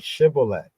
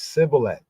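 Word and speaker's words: shibboleth: force people to say the shemitic word shibolet which the epit pronounce as cilet giving them away 42,000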